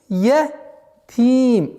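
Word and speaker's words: يتيم: Итого получается яду'уль ятим. Не я. Звук я всегда мягкое.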